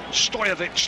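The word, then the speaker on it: Stojković: it's going to be Stojkovic now who is going to take the free kick, edge of his own penalty area. Stojovic, the actual Serbian pronunciation.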